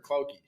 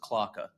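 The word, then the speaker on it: Klauke: thing, and just unfortunately, is it Clouk or Clouky? It's pronounced Clocka. Clocka? It's pronounced Clocka. Clocka? Yeah. German pronunciation of it is Clocka.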